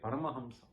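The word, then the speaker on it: Paramahamsa: they are hamsas that is how you say parama Hamsa okay there are already so many people who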